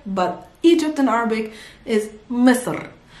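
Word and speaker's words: مصر: am really sorry but egypt in arabic is misur it's not it's so so so it's better better pronounced i know you can feel or hear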